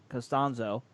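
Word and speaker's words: Castonzo: gonna hit the free agency market Anthony castie Costanzo is my pronouncing that right is nostalgia names tricked me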